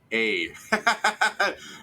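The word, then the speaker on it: Eir: for nursing yeah okay it is pronounced a okay you pronounce it as a and then append a tongue-tip rolled R like the Spanish yeah yeah yeah Joe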